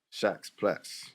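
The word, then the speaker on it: Shacqs Platz: I said listen I pronounced your name. Yeah. Shacks Plats.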